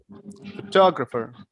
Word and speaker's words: photographer: Photographer. Photographer. So you have to put stress on photographer. The pronunciation is photographer.